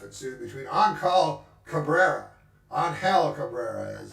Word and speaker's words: Angel Cabrera: Angel Cabrera is how he pronounces it.